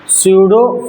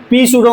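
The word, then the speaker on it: pseudo: सूडो force, अब इसको पी सूडो मत कर देना, कुछ कुछ इंग्लिश का खेल है, साइलेंट रहता है।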